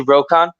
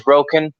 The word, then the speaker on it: Rokan: You can pronounce it any way you like. I say Rokon. Okay. My artist, Max, is from England. He says Roken. It's all good.